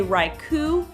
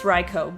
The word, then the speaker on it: Raikou: saw raikos name I tended to say raikou like haiku well I guess that's not an o you but I was thinking also like Raichu even though I guess in retrospect would be silly for them to make a name like a rhyming name like that like for that reason so raikou okay I get it it's raikou but when I'm not